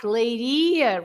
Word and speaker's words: Leiria: Do you remember, Carlitos, that the words ending in IA, the stress must be at the end, like leiria, remember? Leiria. And quem sabia. Oh. Everything that finishes in IA, like you say, padaria, pastelaria.